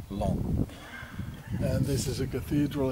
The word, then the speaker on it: Laon: don't pronounce the oath it is not lay on it's lawn and this is a